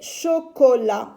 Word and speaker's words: chocolat: C avec O, co. CH, ça me donne le son ch. Ch avec O, chaud. L avec A, la. Et la lettre T est une lettre muette que je ne lis pas.